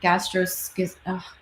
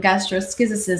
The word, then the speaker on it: gastroschisis: the baby suffering from gastrosis I looked up how to say double check how to say this gastroskysis some of those big words the poster of the baby suffering from gastroschisis a medical condition where